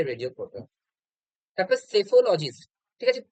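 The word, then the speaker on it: psephologist: তারপর সেফোলজিস্ট, ঠিক আছে, পিটা না এখানে সাইলেন্ট, সাইলেন্ট, ঠিক আছে, উচ্চারণ হবে সেফোলজিস্ট, পেসকোলজিস্ট হবে না, ঠিক আছে।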